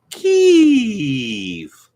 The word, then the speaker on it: Kyiv: We know that it is pronounced Kyiv, just in case you didn't know.